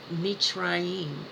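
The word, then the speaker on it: מצרים: Mitzrayim is how you say it in Hebrew.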